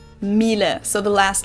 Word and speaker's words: Miele: And it's not exactly pronounced wrong in English, but English native speakers usually say something like Miele. So it usually sounds more like an A in the end, whereas in German we say Miele.